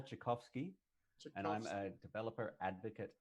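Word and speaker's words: Czarkowski: friend of mine um charkowski that is correct but not good enough a friend for you to actually know how to pronounce my name oh god no it's okay maybe maybe strong maybe strong acquaintance would be uh that's chakovsky and i'm a developer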